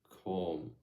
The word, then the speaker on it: calm: It's just self-diagnosed, because, usually I'm a calm, calm, I'm a hold up, how do I pronounce this? I'm a calm pronunciation. Let's listen to it. Calm. Oh, I don't sound the L.